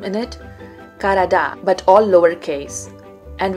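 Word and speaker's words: Karadağ: The address had my last name in it, Karada, but all lowercase, and without the Turkish G, which was silent.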